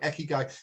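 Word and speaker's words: ikigai: said it better myself it's called in Japanese it's called iy guy right I don't know if they ever heard of that I Ki G AI I Ki G AI eky guy and it's about finding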